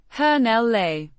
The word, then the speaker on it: hänelle: Finnish dative case marker pronounced hell le with the emphasis on the first syllable similar to hell le but with r slightly softer h sound a specy is the recipient of Kiki.